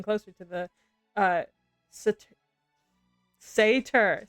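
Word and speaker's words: satyr: silhouette of several creatures saer or Fawn is the word yeah Sater Sater I've been mispronouncing my that word my entire life uh when Sater is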